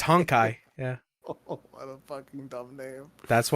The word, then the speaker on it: Honkai: rail there's no way it's hot guys it's honkai yeah oh what a dumb